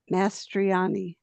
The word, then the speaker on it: Mastriani: Mastriani. I love the way she says that. Mastroani, you can have a little Italiano there.